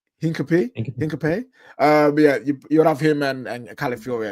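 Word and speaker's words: Hincapié: Yeah, he says here that Hincapie prefers to join Arsenal and the Premier League side are ready to push for him despite departure materializing.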